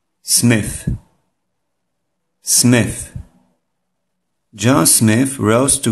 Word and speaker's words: Smith: To jest błąd. Te H nie czytamy jako S, tylko jako dźwięk przypominający F, przy jednoczesnym usytuowaniu czubka języka pomiędzy górnymi i dolnymi zębami. Prawidłowa wymowa tego słowa powinna brzmieć Smith.